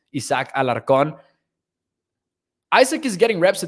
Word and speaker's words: Isaac Alarcon: will pronounce it as it really should be pronounced isaac alarcon isaac is getting reps to tackle out there